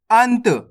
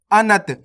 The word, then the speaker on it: अंत: अब आपको क्या करना है, जो आधा अक्षर है ना उसका उच्चारण तेजी के साथ करना है। जैसे यहाँ पे ना है, ना का उच्चारण अपन तेजी के साथ करेंगे। कैसे पढ़ेंगे अपन इसको, अंत। आपको इस तरीके से नहीं पढ़ना आ ना त अनत, ये तो अनत हो जाएगा।